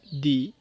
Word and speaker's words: the: আমরা কখন টিএইচ ই দি এবং টি এইচ ই দা উচ্চারণ হবে তা নিয়ে আলোচনা করব টি এইচ ই ওয়ার্ডের পর যদি ভাওয়েল সাউন্ড থাকে তাহলে দি সাউন্ড হবে এক্সাম্পল দি ই এন্ড